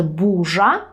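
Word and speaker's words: burza: мові є буква р ми пишемо через rz отже бужа це у нас бур’я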